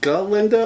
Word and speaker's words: Glinda: Is it Glinda or is it Glinda? The G is silent.